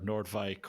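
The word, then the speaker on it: Noordwijk: back good on you good pronunciation that that was impressive nobody gets Nordike correct but you got it like nailed it really good so I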